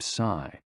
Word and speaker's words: si: shh, with a deep sigh, which is associated with the liver. HE, pronounced like her, with a yawn, which is associated with the heart. SI, pronounced like sir, with a slow exhale, which is associated with the lungs.